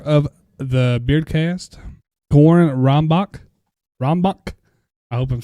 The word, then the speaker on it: Rombach: Your episode 4 of the Beardcast, CORIN Rombach. I hope I'm saying it right. It's got the H is silent.